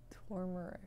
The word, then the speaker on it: turmeric: was just like turmeric you pronounce the r for real the first r that's in the that's